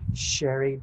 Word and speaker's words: Sherré: I've always called you Sherré. That's Sherré.